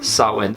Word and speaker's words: Samhain: pagan fire-based festival called sarwen yes it is spelled samhain but that's not what it's actually called it is sarwin now held of course